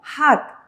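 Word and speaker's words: 학: Entonces, ¿cómo vamos a leer? H guaraní, A y K. Se va a leer como HAK.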